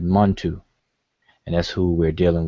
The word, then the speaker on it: Montu: So between the two, we have the two examples, and this is where we get mnTw, but most of us pronounce it Montu, and that's who we're dealing with.